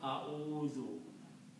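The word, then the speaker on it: أَعُوذُ: Now this is not easy to pronounce wuzu. So in pronunciation we just switch these 2 harakats here. If you move dhamma here and sukoon there, it will become a'udhu. Okay, so actual word is this, but in the pronunciation, we pronounce a'udhu.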